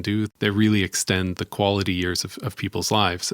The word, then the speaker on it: QALY: this idea of a quality adjusted life year what's what's called a quali or at least that's the pronunciation that I've I've chosen to give it it's it's kind